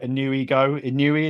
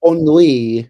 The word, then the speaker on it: ennui: The highlight song for me is if this is pronounced right, Inui, is that right? Inui, It's ennui.